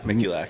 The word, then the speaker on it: Mikulak: Mikulak? Mikulak. It's 3 syllables.